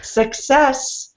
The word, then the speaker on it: success: So success, I'm hearing you put the stress on the first syllable, but it should be the second syllable. Success. Success is not final.